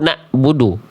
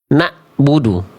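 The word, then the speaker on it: نَعْبُدُ: Hamzah di bawah a i u na'budu kalau ain a i u na'budu harus dirasain sama teman-teman pelafalannya ya. Dirasakan ya. Oke, jadi izin ya, jangan lagi ada yang membaca begini na'budu jangan di pangkal tenggorokan. Jangan di sini nih, tapi naik sedikit ke sini. Na'budu.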